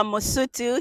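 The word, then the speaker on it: Mosotho: Oh, he's a Mosutu.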